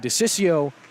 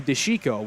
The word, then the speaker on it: DeChico: So we've gone from DeCiccio to DeChico, which, as far as I know, is the proper pronunciation.